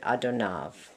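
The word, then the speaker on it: אדוניו: When we're talking about our God and using the name Adonai, then we would just pronounce it Adonav.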